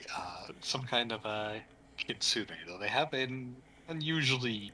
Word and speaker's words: kitsune: years on that and still mispronounce it uh it's pronounced kitsune thank you oh [